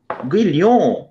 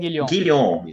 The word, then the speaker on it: Guilhon: aluno egresso da pós-graduação, o Guilhon. Guilhom. Isso, então pronunciei corretamente.